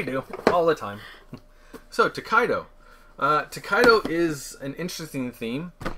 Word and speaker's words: Tokaido: Yes, Tokaido, which we just recently learned how to pronounce properly. Thank you. So we're from the Maritimes. Yeah. We say words weird. Yep, we do. All the time. So, Tokaido.